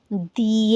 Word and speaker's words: the: हमने क्या देखा, हमने देखा कि हमारे जो भी वोवल साउंड्स हैं उनके साथ जब हम इसको लिखते हैं, इसकी प्रोनाउंसिएशन हो जाती है दी, और बिना किसी ब्रेक